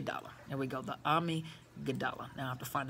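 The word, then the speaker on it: amygdala: responsible for memory and learning while enlarging that army gadot army okay I went looked it up I want to make sure I pronounced it correctly and so the way that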